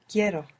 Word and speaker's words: quiero: But I want is Quiero. quiero. So we stress down on that E and it splits into IE.